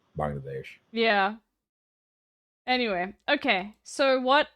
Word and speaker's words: Bangladesh: what's happening in Bangladesh am I saying it correctly Bangladesh because I feel like like you know yeah B yeah you're saying it right okay MD M donut thank you so much don't do it like Assan you're fine yeah Assan literally goes bangle Dash and no he goes